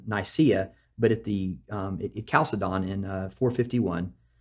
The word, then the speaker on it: Chalcedon: at Chalcedon in 451, could be Chalcedon too. There's all kinds of ways to pronounce these words. Choose the way that you want to do it. Chalcedon, Chalcedon. I've heard all of it.